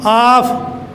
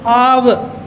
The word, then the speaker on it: of: You always pronounce off. Oh. This is wrong. You see that dictionary there is this. Va. So this is av. Va. Very simple word. Right from the beginning, something wrong has been given by my teachers. And students, they are imitators. They keep on speaking the same thing. So it is not off.